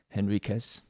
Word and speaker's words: Henriques: zack stein and henriquez is that how you pronounce your name i've heard it pronounced is that okay yeah yep it's like uh me and henry all right well i